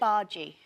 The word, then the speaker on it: bhaji: Uh how do you pronounce it? Bhaji.